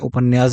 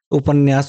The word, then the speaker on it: उपन्यास: ये सभी उपन्यास जो है, इसको कई लोग जो है उपन्यास भी कहते हैं। उपन्यास उच्चारण गलत है, सही उच्चारण है उपन्यास।